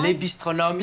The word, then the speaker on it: Les Bistronomes: And you are also the owner of Les Bistronomes. Have I pronounced that right? Les Bistronomes in Canberra, absolutely.